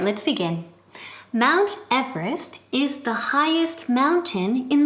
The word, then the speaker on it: Everest: Everest first pronunciation okay say it with me mount mount ow mount Oda Everest Everest given in the syllabus Everest not evidence okay repeat Libya Mount